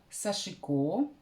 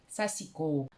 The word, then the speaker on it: сашико: Я нашла по меньшей мере 5 вариантов, в том числе и от носителей языка. Что я нашла? Сашика, сашика, сашико, сашко, сасико. Смею предположить, что эти произношения могут зависеть от географического расположения носителя языка.